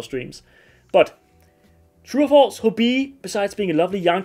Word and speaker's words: Hobbii: a while ago, and a lot of Danes, they will just say hobby because, and not say it like Hobbii because there's two e's, right? So you need to like drag it out like that, Hobbii.